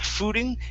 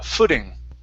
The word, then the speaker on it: footing: okay all right now that last word instead of fooding it's footing oh footing there you go